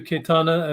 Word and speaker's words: Cayetana: Pleasure to meet you, Cayetana, and be with you, answer your questions today.